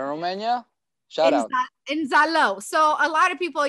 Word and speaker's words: Zalău: In Zalău. So a lot of people, you know. Hold on. How do you spell that? So help our post-production. Z-A-L-A-U. Zalău.